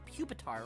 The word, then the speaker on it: Pupitar: Kill the puppetar. Also, Lucy, you say it's it's pronounced pupitar, right?